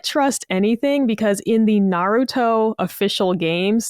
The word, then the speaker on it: Naruto: You can't trust anything because in the Naruto official games, they say his name wrong. And like, they don't even, it's not even like they're saying Naruto. They literally say Nerdo at one point.